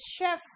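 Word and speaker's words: chef: अब आओ सी एच, ये भी श है, शेफ नहीं है ये, इट्स शेफ। क्या है? शेफ। ये भी श वाला प्रोनाउंसिएशन दे रहा है।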